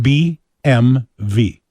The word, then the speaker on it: BMW: Okay, the correct pronunciation is, first of all, the last letter is not pronounced like a W. Actually, it should be pronounced BMV.